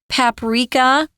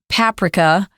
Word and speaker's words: paprika: from a spice called paprika I've also heard some Brits say paprika but we usually say Paprika in America and I'm American so we're going to say it like that when you talk about